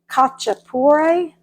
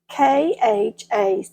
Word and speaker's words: khachapuri: I'm going to try to pronounce it and then I'll spell it for you. Khachapuri, Khachapuri.